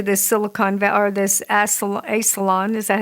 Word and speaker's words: Esalen: Yeah, and it's a wonder why they have to go to this Silicon Valley or this Esalen. Is that how you say it again? Esalen. Esalen.